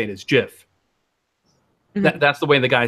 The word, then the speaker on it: GIF: the peanut butter where you say it is jiff that's the way the guy says it's the